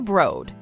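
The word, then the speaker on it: The Broad: must visit for travelers the brode yep pronounced with a long oh let go financed by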